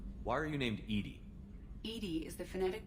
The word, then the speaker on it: EDI: a jar why are you named Ed Ed is the phonetic pronunciation of Eed that is an acronym for